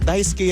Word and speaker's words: Daisuke: Daisuke yan. Kamyosawa, baka. Kasi yung yung sa SU, silent yun. Okay, Hindi mo dapat pinopronounce yung U.